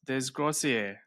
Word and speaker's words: Desgrosseilliers: Myself, Alex, Jake, and today we've got join us Desgier. Did I say that right? Beautiful, man. Butchered it right.